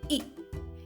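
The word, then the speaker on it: ई: we come to e e is pronounced as the letters double e in the word c or tree it's a long vowel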